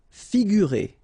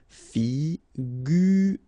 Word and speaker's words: figurer: Figurer. Okay, so here you get this G and U together without any vowel after, so you will pronounce this combination gu, sorry. Figurer.